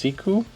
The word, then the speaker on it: Siku: other ones this one here is the Lewis pronounced siku not a brand you typically see around here